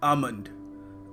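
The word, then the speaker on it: almond: देखिए अगला शब्द है आमंड। आमंड जी हां यह वही है भोला भाला मगर महंगा सा बादाम। देखिए यहां पे जो एल है इसको हमें प्रोनाउंस करने की आवश्यकता नहीं है।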